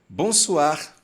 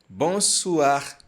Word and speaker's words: bonsoir: para ler dessa forma Toda vez que você se deparar com uma palavra que tem essas duas vogais juntas o o e o i você vai pronunciar o a o a o a por isso nós falamos bonso bonso sal sal e aqui